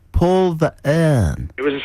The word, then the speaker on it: Verhoeven: You have not pronounced the Verhoeven. Sorry, Verhoeven. But maybe you know better than us. Maybe it is Verhoeven. What did you say? Anthony, you said like Paul Verhoeven.